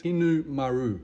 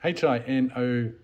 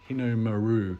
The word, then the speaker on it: Hinomaru: do the roundels, or the proper Japanese word is Hinu-maru. And I know I've completely butchered that, but Hinomaru. Hinomaru.